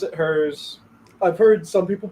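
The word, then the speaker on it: Herr's: uned brand of Chip oh yeah most people pronounce it hers I've heard some people pronounce it hers most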